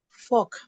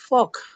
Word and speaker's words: folk: Fork. Come again. Folk.